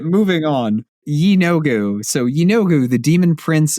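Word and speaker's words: Yeenoghu: I did find a pronunciation guide for Yu Yanogu and you were right. It is Yogu.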